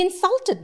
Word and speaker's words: insulted: I'm stressing on in. Insult. He insulted me. Sul. It is a verb. I stressed on the syllable sul.